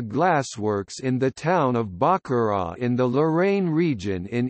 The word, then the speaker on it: Baccarat: Baccarat crystal, pronounced Baccarat, is a French manufacturer of fine crystal glassware located in Baccarat, France.